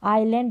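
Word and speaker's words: island: तो यहाँ पर एस जो है साउंड उसका उच्चारण नहीं होगा। आइलैंड और डेब्री पढ़ेंगे, ना कि डेब्रीज।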